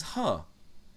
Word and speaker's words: Ho: But one day I just thought to myself, like, why can't I just say it how it's pronounced actually? Which is Huh. But it's not spelled that way.